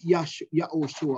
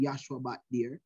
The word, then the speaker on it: Joshua: so you notice he was moses was consulting with yahushua or joshua which is the correct pronunciation joshua and he was moses